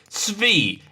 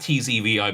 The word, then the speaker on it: Tzvi: Tzvi. Imagine it's spelled S-V-E-E. I spell it T-Z-V-I, but S-V-E, Tzvi.